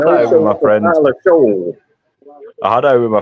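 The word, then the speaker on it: Shough: Tyler Show in New Orleans, all right? Ain't that ironic? It rhymes with shit, Tyler shit.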